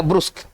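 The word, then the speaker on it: brusque: पढ़ेंगे क्या, अपन इसको उच्चारण देखते हैं, इसको पढ़ेंगे ब्रुस्क, है ना, इसको पढ़ेंगे ब्रुस्क।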